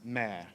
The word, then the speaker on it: mère: Moreover, following the director's comments, it's interesting to note that in French, the words sea and mother are homonymous. Both are pronounced mère.